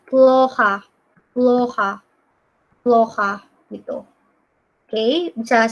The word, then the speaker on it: плохо: Ini bacanya ploha.